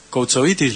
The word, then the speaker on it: Koutsovitis: Está con nosotros María Eva Koutsovitis, ¿lo pronuncio bien?